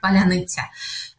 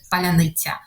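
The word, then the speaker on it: паляниця: that stuff but essentially in Ukrainian there is this word ban and this word is really difficult to pronounce for people who are Russ who are Russian speakers because this soft s is not really common in Russian language and so there were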